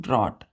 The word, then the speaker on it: drought: तो ड्रॉट में बच्चों जी यहाँ पे साइलेंट हो जाता है, ड्रॉट हो जाता है डायरेक्ट।